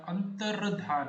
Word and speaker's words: अंतर्धान: और अंत या फिर अंत, अंतर, अंतर, ता के बाद रा का प्रोनाउंसिएशन आ रहा है, अंतर्धान, अंतर्धान, ये सही है।